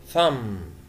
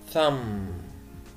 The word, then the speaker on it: thumb: جمجمة teeth teeth أسنان thumb thumb طبعا البي في الآخر مش بنطقها إبهام اليد toenail toenail